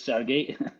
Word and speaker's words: Sergey: pronunciation of your name sergey hi uh yeah it's uh exactly this the way you said it's sergey well your last name